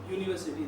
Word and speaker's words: university: Now what is the exact difference is that it is pronounced as university. U means Y. University.